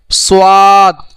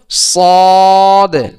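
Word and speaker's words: ص: অনেকে এই সদ দতকে বলে সোয়াদ, দোয়াত, এটা বলা যাবে না। এর উচ্চারণ হলো সদ, দদ। তাহলে সদ এর উচ্চারণ কোথা থেকে হবে?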